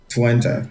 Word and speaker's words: Twente: It's Twente.